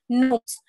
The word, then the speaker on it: gnomes: G is silent. So you're not going to pronounce the G. You're just going to pronounce the gnomes.